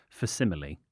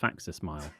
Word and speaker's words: facsimile: I've said this before in this podcast, I used to think facsimile was pronounced faxismile.